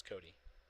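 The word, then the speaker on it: Côté: just super common like i always love when people see cody c-o-t-e and it's just coat it's like no it's cody or gagne g-a-g-n-e gagne gagne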